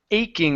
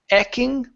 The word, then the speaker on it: aching: go to the word aching instead of eching it's a aing aching aching good nice job okay here